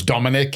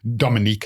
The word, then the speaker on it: Dominique: His name was Dominic. He was awesome. He was Dominique. Actually, I should pronounce his name correctly.